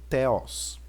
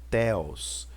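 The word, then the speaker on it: θεός: muito no novo testamento é o teos é aqui nós temos o teta então tem som de TH o Aqui nós temos o Eta som de e o homem cromossom de o e o Sigma percebam que aqui eu tenho uma das versões do signo eu tenho essa versão mas talvez eu poderia ter essa versão também então teus teus que quer dizer Deus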